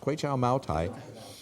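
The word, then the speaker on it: Moutai: pic Rivera California 375ml bottle 15-year-old Quay Chow quow maai that's how that's pronounced quow maai it's value of $1,299 and we're looking for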